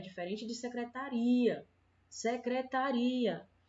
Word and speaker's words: secretaria: joelho certo olha mesma coisa acontece na palavra secretaria Secretaria é diferente da palavra secretária certo na